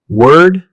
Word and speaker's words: word: Let's begin with one of the most commonly confused pairs, word and world. Word, word, world, world. Although they look similar, the pronunciation is different. Word has one syllable, pronounced word.